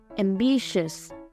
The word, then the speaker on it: ambitious: Và ambitious. Âm tiết thứ hai.